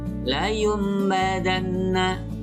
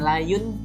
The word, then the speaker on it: layum badanna: Contoh, nun mati bertemu ba, pada kalimat ini dibaca layum badanna. Jadi bukan layun tapi layum, berubah jadi mim. Layum badanna.